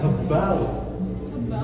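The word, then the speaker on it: gebouwd: Itu dibacanya hebau. Hebau artinya dibangun.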